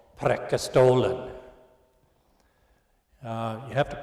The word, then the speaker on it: Preikestolen: and we went to a famous place called Preikestolen. You have to pronounce it right, otherwise you're not Scandinavian. Preikestolen.